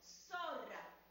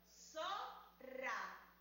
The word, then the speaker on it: zorra: Pronuncien conmigo, zorra. Dividámosla en sílabas, zorra. Fíjense que suena muy fuerte. Repitan conmigo, zorra. El sonido rrr lo escuchas en la segunda sílaba de la palabra.